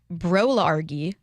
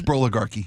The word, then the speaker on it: broligarchy: Um, it's broligarchy. You're mispronouncing. Yes. Yes. Yes. Yes. Broligarchy. You've heard that? It's a bro and oligarchy. Those two words together.